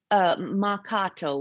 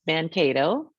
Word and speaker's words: Mahkato: So Mouacheupao, which is mispronounced Mankato, it's telling us that that is where the blue earth dye comes from.